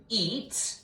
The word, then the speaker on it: eat: I'm going to put a macron over that E, and the A is silent, because when two vowels go a-walking, the first one's going to do the talking.